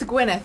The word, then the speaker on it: Gwyneth: It's Gwyneth, actually.